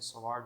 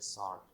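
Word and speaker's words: sword: तो यहाँ पर डब्ल्यू साइलेंट है, तो इस वजह से एस ओ आर डी की आवाज़ देगा, डब्ल्यू का साउंड नहीं देगा, तो ये होता है सॉर्ड।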